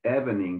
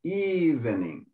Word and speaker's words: evening: part of why say I think you said Ebony but it's evening the evening yeah so the emphasis is at the very beginning so why say the